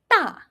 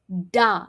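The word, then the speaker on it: 大: The first word here is ta. Ta means big. And since it starts with a d, you should be saying ta, not da.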